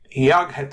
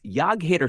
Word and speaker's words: Jag heter: It's Jag heter Stuart, pronounced Yetter Stuart.